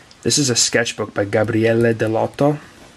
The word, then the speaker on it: Gabriele Dell'Otto: This is a sketchbook by Gabriele Dell'Otto, or as Americans say, Gabriele Dell'Otto.